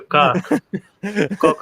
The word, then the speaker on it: Coke: Shout out to Coke. Yeah, Justin's been pronouncing Coke like cock for 20 minutes.